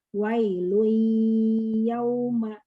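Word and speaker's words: ويل يومئذ: Nah, dibacanya harusnya wailun, nunnya nggak dibaca, tapi gunahnya aja. Caranya wailui, kita bacanya wailui ya, tapi ini tidak ada syaddah. Jadi perlihatkan gunahnya. Wailun yauma idzin.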